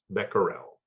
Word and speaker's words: becquerel: in Canada we use uh the term beccarells pronounce becquerel and the definition of one becquerel is the